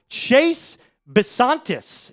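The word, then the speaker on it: Chase Bisontis: Chase Basantis is, I believe, how you pronounce this.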